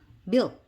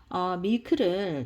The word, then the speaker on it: milk: 너무 씩씩하게 밀크 이렇게 발음하시지 마시고 milk 하면 되는데 거의 좀 약간 미역이라고 발음하는 게 오히려 더 정확할 수도 있을 것 같습니다. 그래서 밀크를 정확하게 영어식으로 발음하려고 그러면